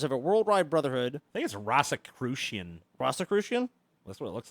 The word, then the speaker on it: Rosicrucian: a Rosicrucian play Rosicrucian Rosicrucian rosie crucian rosie crucian a member of a worldwide brotherhood claiming to